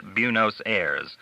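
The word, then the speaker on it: Buenos Aires: I will take any call from Buenosiris. You probably pronounce that Buunosirs.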